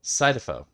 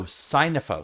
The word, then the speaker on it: Synnefo: Sidefo. All right. No, Sinopho. SYNNEFO. Oh, Sinefo.